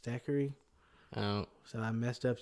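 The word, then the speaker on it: Thackery: I named him Zachary Binks without knowing it's pronounced Stackery.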